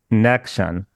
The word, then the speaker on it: Nexion: It's like connection, but it's Nexion.